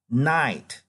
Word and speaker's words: Knight: Knight. Knight. Okay, this is the same pronunciation like we are going to dark here. So if it's going dark, it's called night. But the same pronunciation as that night.